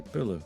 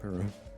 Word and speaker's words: Pulu: Like LPO Pilu or Puru, as it's been in subtitles and in video games for ages, but it's actually Pulu, her name, not Puru.